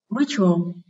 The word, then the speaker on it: ritual: Đây là danh từ có 2 âm tiết, nên trọng âm rời âm tiết số 1. Ritual.